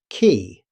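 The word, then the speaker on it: quay: Key. Although the spelling looks unusual, it's simply pronounced k e y. Exactly like the word key.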